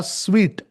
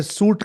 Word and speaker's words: suite: ये SUITE जो लिखा है, कुछ लोग इसे सूट कहते हैं, इसे स्वीट कहते हैं। स्वीट यानी मीठा जैसे होता है ना, SWEET, उसका उच्चारण और ये SUITE का उच्चारण सेम है।